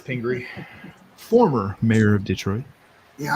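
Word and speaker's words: Pingree: I'm just like incorrectly speaking calling it mayor Pinger it's Pinger former mayor of Detroit yeah I have mayor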